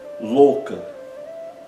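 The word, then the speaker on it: loka: Não existe o som o. A não ser por isso, é fácil a gente pronunciar. É equivalente ao nosso O com o acento circunflexo O.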